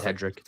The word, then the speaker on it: Hedrick: I'm not sure how to pronounce that one yet. I'll roll with Hedrick. It's Hedrick. Yeah, I've heard it on the broadcast. They've said Hedrick.